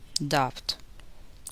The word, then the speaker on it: doubt: B is silent in the following words. Listen and repeat each word after the speaker. Debt, doubt, lamp, camp, thump, wump, subtle, soponia.